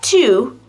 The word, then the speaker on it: to: trying to avoid traffic if you pronounce the word two with a primary stress like I'm trying to avoid traffic well that just sounds really strange to native speakers because that too doesn't need to be